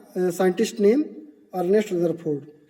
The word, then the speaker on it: Ernest: 5th number देखिए, a great nuclear physicist, एक बहुत बड़े न्यूक्लियर फिजिक्स थे जिनका नाम है, ध्यान दें, इरेस्ट रदरफोर्ड, सॉरी अर्नेस्ट है, मीनिंग देख लें आप लोग, स्पेलिंग अर्नेस्ट रदरफोर्ड, ERNEST।